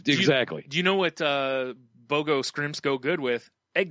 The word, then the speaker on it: BOGO: And then I walk upon the BOGO.